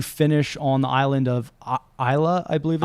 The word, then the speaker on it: Islay: and then you finish on the island of Islay, I believe it's pronounced. Islay? It's ISLES, whatever it is. Yeah, AY, and people might pronounce it like Islay, but it's actually Islay, and that's where Lagavulin Distillery is, which is